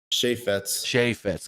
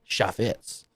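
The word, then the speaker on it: Chaifetz: How do you say the arena? Chaffetz? Chaffetz? Chaffetz. Gotcha. It's a French name. Chaffetz.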